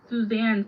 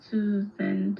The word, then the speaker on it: Suzanne: Well, today you you didn't you didn't say Suzanne. It's Suzanne Summers. You said like Susan. Susan or something.